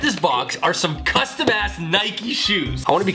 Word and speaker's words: Nike: It is pronounced in 2 syllables, rhyming instead with words like crikey. The brand Nike is pronounced Nike, after the Greek goddess of victory in mythology.